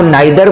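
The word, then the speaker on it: neither: क्या कह रहा कि इसे आप नाइदर बोलिए या इसे आप नीदर बोलिए, प्रोनाउंसिएशन दोनों एक्सेप्टेबल है। इंडिया में कुछ लोग नाइदर बोलते हैं, कुछ लोग नीदर बोलते हैं, इससे आपका कोई रिजेक्शन नहीं होने वाला है।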